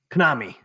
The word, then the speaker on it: Konami: Konami.